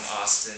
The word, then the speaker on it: Austin: Um, so yeah, I'm from Austin, Texas, which rhymes with Boston.